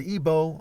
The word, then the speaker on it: Igbo: And the word Igbo, I-B-O, there's two spellings, I-B-O and I-G-B-O, where the G is silent.